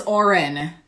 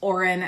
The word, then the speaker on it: Odhran: It is Oren. It's spelled Odhran. It's pronounced Oren as if it were spelled Orran.